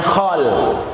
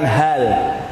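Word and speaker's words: خال: saudara Ibu yang lagi namanya hole hole ya bukan hal ya kalau hal itu artinya Apakah kalau itu artinya keadaan hole-hole dan Kalau acara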